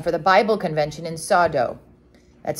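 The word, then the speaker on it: Soddo: christians had come for the bible convention in sawdo that's spelled s-o-d-d-o many tribes inhabit this country he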